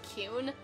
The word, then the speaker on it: Qun: forgetting a name Qun it's supposed to be pronounced Queen to go with the fact I named my character King but even I just call him kyun I don't know why